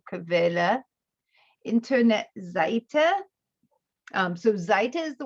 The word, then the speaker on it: Quelle: Remember the QU sounds like a KV, so Quelle, Internetseite.